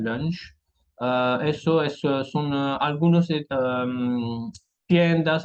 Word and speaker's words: lunch: Un lunch viene de una palabra en inglés, pronunciamos la H, donc un lunch.